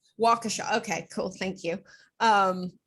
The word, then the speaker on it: Waukesha: not going to pretend to be able to pronounce the town where it happened because i've only seen it written waukesha waukesha okay cool thank you um this is something